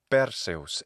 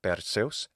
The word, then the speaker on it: Perseus: Perseus in Latin, or Perseus in classical Attic pronunciation, Perseus in the modern Greek pronunciation.